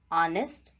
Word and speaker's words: honest: h in english language in the beginning of some words letter h is silent because those words are borrowed from french language for example honest our honorable etc here